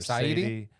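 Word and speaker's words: Saedi: Did I say his name correct? I say it Saidi or Saidi? Sadie. It's ideas backwards, what you need to know.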